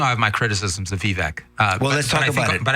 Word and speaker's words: Vivek: I have to say, I've heard it said Vivek now. Yeah. That's the pronunciation. Vivek. What does he say? I think he said Vivek, if I'm not mistaken. He says Vivek.